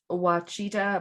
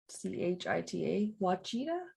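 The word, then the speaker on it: Ouachita: jerks that doesn't look up things how to pronounce them uh watchita mountains of oklahoma they're like o-u-a-c-h-i-t-a what cheetah mochita sure uh cheetah no um the first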